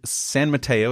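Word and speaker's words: San Mateo: High to high school she co-founded peace village San Mato is that correct Bonnie is that how you pronounce it yeah that's it yes it is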